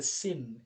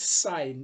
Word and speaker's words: sine: I didn't say the sin it's sign it's written same please it's pronounced sine it's not sin because the full name